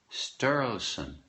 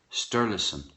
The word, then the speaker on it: Sturluson: McGregor is a character in a book by a woman AHA sturluson a good writer write you keep getting new